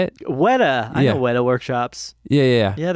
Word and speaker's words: Weta: Weta.